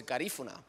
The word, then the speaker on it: Garifuna: I want to thank Senator Stewart Cousins for allowing us to present a resolution that honors the real pronunciation is Gariguna, Garinagu. Garinagu culture, we know it as Garifuna.